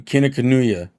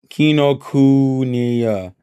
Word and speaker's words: Kinokuniya: So we went there, and then I think we finished off going to Kinokuniya. How do you pronounce?